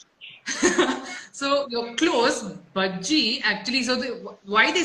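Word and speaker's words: Bhajji: And तो यहाँ पे भी महाराष्ट्र में भी भाजी बुलाते हैं, बट मैं भाजी नहीं हूँ, मैं बज्जी हूँ. So you're close. Bajji actually, so why they say hot bajji is because bajji is basically pakode in Tamil.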